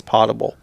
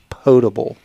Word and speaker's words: potable: how that's pronounced and I was adamant that it's potable and he was adamant that it's pable and further research shows that both he and you are corrected is pable I could see where